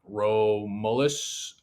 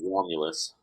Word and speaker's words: Romulus: last Roman Empire Emperor rolus Augustus I butchered that completely I think the first one's Romulus ROM there you go Romulus Augustus Maybe in 476 um by